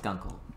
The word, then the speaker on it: gunkle: It's pronounced Gunkel.